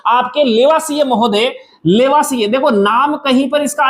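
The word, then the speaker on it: Lavoisier: तो विभिन्न प्रकार के प्रयोगों से आपके लेवासिए महोदय, लेवासिए देखो नाम कहीं पर इसका अलग अलग मिल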